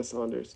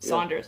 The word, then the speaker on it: Saunders: and family oh yeah was George Saunders or Sanders I don't know how to pronounce his name yeah Saunders Saunders okay as a person who has not read